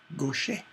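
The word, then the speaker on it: Gauthier: on to that lyric Gosha is spelled GA u th ier looks like Goethe here but it's not it's go shame Mary O'Shea she is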